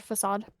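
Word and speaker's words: façade: You know the word facade? Yeah. It is technically supposed to be pronounced facade.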